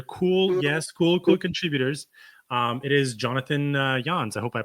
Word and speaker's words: Janz: It is Jonathan Janz. I hope I pronounced that correctly. Welcome, Jonathan. Janz. It's cool. Janz.